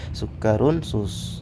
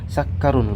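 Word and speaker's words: سُكَّرٌ: Ya, di sini sukkarun, ya, sukkarun nggak boleh dikatakan sakkarun, nggak boleh, harus sukkarun.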